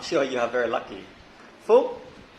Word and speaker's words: Phuc: Phuc, it is very weird name, P-H-U-C, if you pronounce in English.